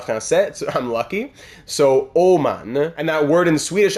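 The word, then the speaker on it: Åman: Fun fact, the letter A in his name, Oman, is pronounced as O in French. So I was saying Amen, Aman, I wasn't sure what it was, but no, the A in Swedish actually has the O sound, E-A-U, en français.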